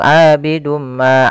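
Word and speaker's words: عابد ما: kita cara membacanya adalah kita masukkan tanwinnya kepada huruf mim kemudian ditahan abidumma tahan MMA baru dilepas jangan langsung abidum Ma abadtu misalkan jangan tapi caranya adalah kita tahan dahulu abidum Ma abadum pada lafal Ma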